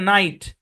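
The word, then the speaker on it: night: আচ্ছা, তারপর দেখেন শব্দের সরি ভাওয়ালের পর জি এইচ থাকলে জি এবং এইচ দুটোই সাইলেন্ট। যেমন দেখেন নাইট, ভাওয়ালের পরে জি এইচ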